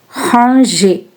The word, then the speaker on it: ranger: In this word, the letter G is soft, like in the word manger.